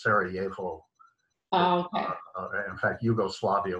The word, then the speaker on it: Sarajevo: 100 pronounced pronunciation so if you're in eastern europe it's a it's a it's a y sound so it's sarajevo um in fact hugo